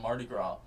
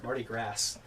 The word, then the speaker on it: Mardi Gras: up is a holiday where we live called Mardi Gras. And it's called that because Marty is touching grass. Good job, Marty. That's how it's spelled. You're not even pronouncing it right. Yeah, Mardi Gras.